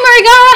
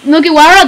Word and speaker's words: Mugiwara: Oh, hey, Marigara. How you got? Mugiwara? That's how you say it.